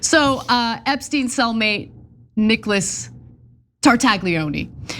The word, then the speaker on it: Tartaglione: Okay, by the way, we need to pronounce the Italian gentleman's name correctly, okay? It's Tartaglioni. That's his name. He made Epstein an offer that he couldn't refuse. all right. So uh Epstein cellmate, Nicholas Tartaglione, said he discovered the note in July 2019